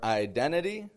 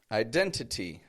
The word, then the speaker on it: identity: Ever notice when people say internet or identity? We don't really say internet, identity. That's way too strong. Identity. No. We reduce that.